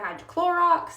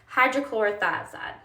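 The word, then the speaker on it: hydrochlorothiazide: I've heard hydrochlorox. I've heard I've heard um I've pretty much just heard hydrochlorox, but it's actually pronounced hydrochloroioide.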